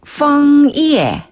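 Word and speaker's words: 枫叶: 이에 펑 이에라고 하는데요 펑 이에 할 때 펑 짜는 약간 아랫 입술에 윗니를 살짝 대고서 응 그렇죠 F 발음 펑 그렇죠 이에는 영어 발음에서 예 할 때 그 예예 아웃네 또 나왔어요 우리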